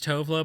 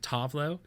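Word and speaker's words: Tove Lo: The American version is Tovlo, but I think she likes to pronounce it Tovlo.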